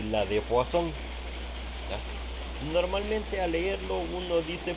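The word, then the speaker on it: Poisson: tiene una pronunciación particular Así que la forma correcta de pronunciar el apellido del señor es poasón aunque se pueda leer poison pero esa es la forma correcta de pronunciar cuando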